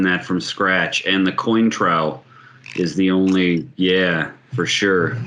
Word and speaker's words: Cointreau: And the Cointreau is the only, for sure. Good stuff. Eric, you fancy that how to pronounce Cointreau, or have I been spelled? No, it's Cointreau.